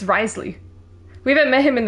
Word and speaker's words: Wriothesley: last night has been released I think you pronounce it it's it's Risley we haven't met him in the game yet